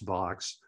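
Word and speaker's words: Vaux: man named Calvert Vox it is pronounced Vox um who had a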